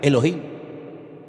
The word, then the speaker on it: Elohim: desde el principio es un nombre que se pronuncia Elohim.